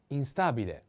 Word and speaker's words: instabile: a cloudy next one instabile instabile instability the accent is on a instability in this case